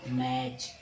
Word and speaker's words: match: जैसे MA से होगा मैं, T साइलेंट हो गया बच्चों, CS से हो गया च, मैच।